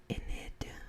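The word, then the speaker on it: Enid: is a lieutenant with the inid police department i believe is how you pronounce it it might be something else but it's spelled e-n-i-d and this is approximately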